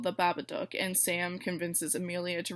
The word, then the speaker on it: Babadook: movie the babadook and I know I've heard a lot of people pronounce that name a lot of different ways but since that's how the characters in the movie pronounce it I'm going to be calling it the babadook sorry if that displeases